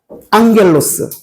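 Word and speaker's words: ἄγγελος: 그 옆에 헬라우드 제가 써 놨는데 앙겔로스 기본 단어다. 다 아시죠? 감마가 두 개 겹치면 엉으로 발음한다.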